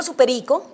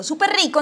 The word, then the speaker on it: súper rico: Tengo que aplicarle la regla de que yo no digo superico, sino súper rico, entonces tengo que duplicarle. Depende, si es cantante de reggaetón, si le aguanta el superico.